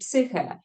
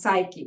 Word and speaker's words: Psyche: So the story of Eros is really the story of Eros and Psyche, which in English you pronounce psyche, but it's really Psyche.